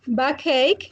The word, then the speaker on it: backache: don't pronounce yes okay and back cake backache el dollar despalda back